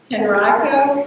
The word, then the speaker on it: Henrico: I'm pronouncing this right, is it Henrico County? Is that how they pronounce it in Virginia? Henrico? Yes, yes. That's what I thought. I looked it up, but I see Henrico, I don't know.